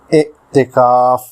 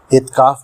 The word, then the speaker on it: اعتکاف: کا لفظ ہے اعتکاف۔ اعتکاف جو درست ہے، عام طور سے لوگ جلدی میں اعتکاف بولتے ہیں، جو غلط ہے۔ اس کے معنی ہیں